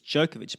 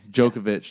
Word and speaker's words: Djokovic: it's not Djokovic it's Djokovic pronounced the way that he wants pronounced alright right thank you Djokovic thanks for the education